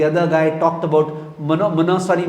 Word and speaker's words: monopsony: तो the other guy talked about मोनोसोनी market. इसमें P silent होता है, MONOPSONY.